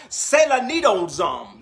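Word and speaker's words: σεληνιάζομαι: It is the word, this word lunatic in the Greek, it is pronounced selanidozom. Let me say it again. Selanidozom is the word in the Greek, and it means to be moonstruck, and it means to be crazy.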